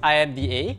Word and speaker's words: IMDA: the one the one so some students call us imda we call ourselves imda The Architects of Singapore's